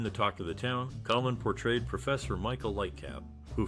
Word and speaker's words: Colman: His surname is often mispronounced as Colman, but the correct way is Colman.